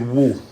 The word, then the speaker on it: we: it's it's even the we simply pronounce it woo so we could be